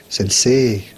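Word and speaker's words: 先生: hey, je suis Sensei et pas Sensei. J'ai pas dit Sensei, j'ai dit Sensei. Parce qu'en fait, le I prolonge le E, Sensei.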